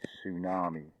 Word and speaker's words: tsunami: It was a spiritual zip file, a tsunami. Let's just break the word tsunami down. First off, you've got the letter T, which is silent.